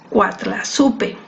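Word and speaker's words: Coatlaxopeuh: Se cree que Nuestra Señora usó el término azteca, náhuatl, el cual es pronunciado Cuatlazupe, y suena extremadamente parecido a la palabra en español, Guadalupe.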